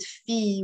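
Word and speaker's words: فيه: promote announce it sometimes if you see me right right at fee with a ha don't get confused okay that ha is silent that's why sometimes i write it feet like that it's the same okay what is there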